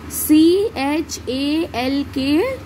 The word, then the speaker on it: chalk: The next is C H A L K chalk. C H A L K chalk. Chalk. देखिए यहाँ पर जो L है, L का जो pronunciation है वो silent है, L का साउंड यहाँ पर नहीं निकल रहा है.